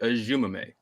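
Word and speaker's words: Eziomume: And I think the pronunciation I had settled on was Iziomume, because it just phonetically it made sense. I thought it was that was a good guess at it. But then when I heard Jason say it, I was like, oh, interesting. So it turns out it's David Ajumame. So it not really that hard to pronounce, just not really what you expected exactly.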